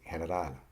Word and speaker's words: general: Now the G, when it is before an E or an I, is pronounced like an H. An example is general.